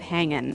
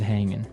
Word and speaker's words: hanging: G right yeah but usually you don't really pronounce the G in this context cuz it's very informal so how's it hanging how's it hanging so he said everything